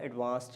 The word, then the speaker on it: advanced: interesting book for the advanced learners so the very first word that you must memorize remember it is advanced with d sound at the end advanced english or advanced